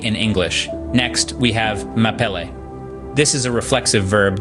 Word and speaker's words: m'appeler: Pronouncing this might seem tricky at first, but it's actually quite straightforward. Think of saying map and L quickly together, as in map L.